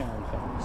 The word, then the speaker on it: Ehrenfeld: Sergeant Ehrenfeld. Sergeant Arrington? Ehrenfeld. Ehrenfeld, okay.